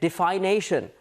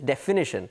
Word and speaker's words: definition: But if you just put these two together, you get defination. That's not the correct pronunciation. The correct pronunciation is definition.